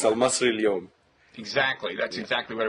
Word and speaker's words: Al-Masry Al-Youm: whose name I'm not going to try to pronounce. You can. Yes, it's Al-Masry Al-Youm.